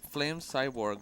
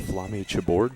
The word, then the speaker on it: Flame Chaborg: Yeah, it's Flame Chaborg. That's what I was about to Oh. From my stream, I blew it. Can you say it into the mic? It's actually pronounced Flame Chaborg.